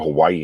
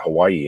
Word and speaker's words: Hawaii: all of a sudden you're not pronouncing it Hawaii anymore. It's Hawaii. I spent a whole week in Hawaii.